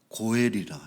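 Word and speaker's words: גֹּאֵל: 그래서 이러한 기업 물리는 자를 물르는 자를 일러서 어 성경에는 고엘이라 이렇게 원어를 어 사용하고 있습니다.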